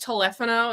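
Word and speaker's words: teléfono: a He's got a telephono. Okay. You saying that cuz he's Mexican. Well, it's actually pronounced telephano if I was doing it in Mexican.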